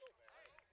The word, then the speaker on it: Silvera: He says Silvera. No, it doesn't look like that. We even both asked him, how do you pronounce it? It's Silvera.